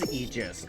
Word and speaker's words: Aegis: Apparently, it is Eegis. Okay. Okay. I've been saying it wrong forever then.